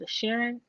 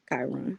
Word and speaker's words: Chiron: A Sharon?